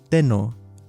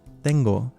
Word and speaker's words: tengo: If you added the symbol for singular first person present to the verb tener, then you might assume that it should be pronounced as teno, but in actuality it's tengo.